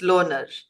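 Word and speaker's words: Lohnour: people about The Loner is the community of young people it's loner it's loner no it's loner it's life of honor the honor pronunciation l o h n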